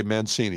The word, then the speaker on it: Mancini: Uh here we would say Mancini. It's spelled like Mancini, the orchestra directory.